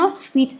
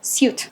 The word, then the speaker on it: suit: So if you guys pronounce this word as sweet, then you guys are wrong. So how do you read it? You stress the letter U ዚጋ. So suit. Okay, this jacket suits you